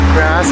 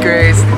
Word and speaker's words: Grace: just elevated everything grass is here I mean grace that's how the French pronounce her name thank you cheers